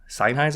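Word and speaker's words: Sennheiser: new mic and have a fancy ass seiser seiser is how you pronounce it senis a um shotgun mic which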